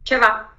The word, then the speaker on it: Czeva: So not Cheva, but Czeva.